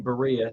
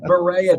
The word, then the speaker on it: Berea: like oh okay so a way I can remember it is it rhymes with diarrhea okay that that's the way I can remember it because it looks like Berea today I really wants